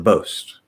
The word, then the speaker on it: boast: the boast all right so the most is both as boast as most as the t wants to flap into a d and connect to the a but because of the s right if there's like a k or an s or an f before the t it can't actually flap because of the physical mechanics um and so it'll become um sort of like a weak d uh boast is both